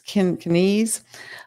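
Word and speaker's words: Keynesian: Um it it's in the outline but I'll tell you about it real quick um I have to say it right. It's Kinesise um in the 1930s and4s um argued for deficit spending in depressions and but also for surpluses during booms.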